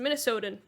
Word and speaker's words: Minnesotan: That's how you pronounce it. Minnesotan.